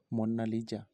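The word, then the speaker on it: Monna Lisa: মোনালিসা একটি Italian ভাষা, যার সঠিক উচ্চারণ হলো মোন্না লিজা।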